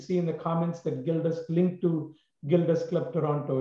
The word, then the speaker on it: Gilda: How do you spell it? GILDA. That's Gilda. It's named after a lady